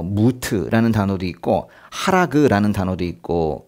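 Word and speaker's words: מות: 뭐 무트라는 단어도 있고 하라그라는 단어도 있고 그래요.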